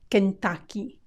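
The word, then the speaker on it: Kentucky: familiar with his State they'll often say kentaki kentaki with an A A Kent main here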